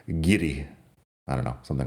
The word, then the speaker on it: guiri: I suppose I should pronounce the R better. Guiri.